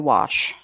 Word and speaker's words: Walsh: She's Godspeed Brenda Walsh, because no, if anybody can beat it, you can. You said it wrong. It's Brenda Wash. That's how she would pronounce it. She doesn't pronounce the L?